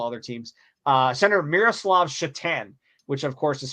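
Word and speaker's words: Šatan: as a couple other teams uh Senator Miroslav chatan which of course is spelled sat t- an or Satan uh fun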